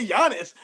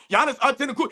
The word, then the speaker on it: Giannis: So in an instance where Jana's name gets brought up, let's say instead of saying, "Oh yeah, Giannis, Jiannis," he couldn't even pronounce his name right, but he says Jiannis Antenna, and then he starts